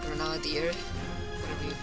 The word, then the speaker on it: Nader: this cluster named Ralph Nader naadir how it's pronounced you only get grenades